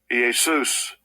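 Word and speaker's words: Ἰησοῦς: But I want you to hear how this word is pronounced. Strongs G2424us. Easus.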